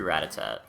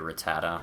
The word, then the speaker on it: Rattata: So, level three Ratat or Rattata. I don't know why I call him Ratat. Anybody else do that? I always mispronounce the name as a kid and then I hear Rattata.